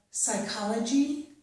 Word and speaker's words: psychology: I have psychology and psychiatry. In these two words, we do not pronounce the P sound, so we pronounce these as if they start with the S or S sound, okay?